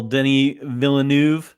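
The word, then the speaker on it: Denis Villeneuve: good yeah a little Denny villanu that's how you s say his name by the way not not Dennis well I've been watching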